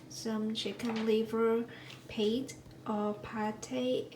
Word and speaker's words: pâté: chicken liver paint or pate as it is pronounced in french i got the recipes